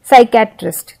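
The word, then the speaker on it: psychiatrist: P silent है इसमें साइके, साइकेट्रिस्ट। तो हमने पी तो लिखा है स्टार्टिंग में, लेकिन हम पी को उच्चारण में नहीं ले रहे हैं, हम एस से उच्चारण शुरू कर रहे हैं, हम बोल रहे हैं साइकेट्रिस्ट।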